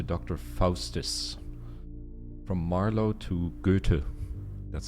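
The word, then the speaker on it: Goethe: of Adana to Dr Fus from Marlo to gutu that's how you pronounce it by the way gutu there's a story that the Ancients keep kept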